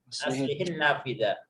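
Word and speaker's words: أَصْلِحِ النَّافِذَةَ: Oh ya Usman aslihun nafidhata. Laisa doma. Eh. Aslihin ya. Aslihin Nafidah. Bukan aslihun tapi aslihin nafidah ya. Jadi sukun yang pertama dikasrahkan.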